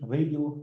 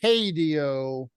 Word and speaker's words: radio: Radio. Radio. Yeah. Okay. Okay. Thank you. Not hadio, but radio.